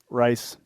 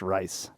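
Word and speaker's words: Rhys: right now it is it's spelled r h y s and it is pronounced rice correct so uh at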